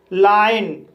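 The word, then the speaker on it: lion: For example लाइन, इस word में एल को ला पढ़ा जाएगा, आई को आई पढ़ा जाएगा, ओ को आ पढ़ा जाएगा और एन को ना पढ़ा जाएगा।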